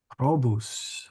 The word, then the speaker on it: probus: Probus. Probus, or sorry, it's a short O.